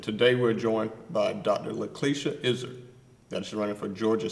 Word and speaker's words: Laklieshia: lanier sims and today we're joined by dr lacalicia izzard that's running for georgia state house district 93.